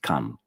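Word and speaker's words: 漢: Second one is pronounced Ji, and the first one is pronounced Kan.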